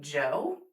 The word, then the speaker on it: Djo: I'm also getting really huge into Joe which is spelled like DJO and if you know who Joe Keery is, he's Steve Harrington from Stranger Things.